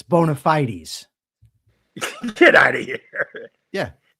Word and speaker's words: bona fide: The stress is on FYE, bona fide.